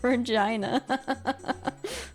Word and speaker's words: Regina: Canada called called Regina and it's just pronounced Regina why why would they do that can like